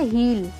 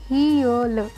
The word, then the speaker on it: heel: क्या बोलते हैं हम इसे, हील, है ना, ये गलत है यार। क्या होगी इसकी करेक्ट प्रोनाउंसिएशन, हील, ई और अ का साउंड होगा हील, हील, जिसे हम क्या बोलते हैं, एडी।